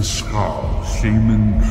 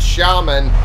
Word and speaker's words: shaman: Send the Skaar Seaman to me. He the secrets that will be mine. For an entity that values all knowledge, one would think you'd know it's pronounced shaman.